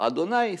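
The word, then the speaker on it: אדני: Pourquoi est-ce qu'on prononce aussi le nom Yud Kevavke, qui s'écrit Yud Kevavke, et on le prononce aussi par Adonai?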